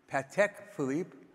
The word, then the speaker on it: Patek Philippe: I know you're supposed to pronounce it Patek Philippe. I can't do it. I just never get it right.